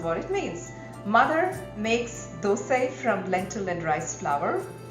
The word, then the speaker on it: dosai: restaurant style onion rava dosai you heard me right you pronounce it as though say not dosa we don't call puri pura right anyway dosa predominantly appears in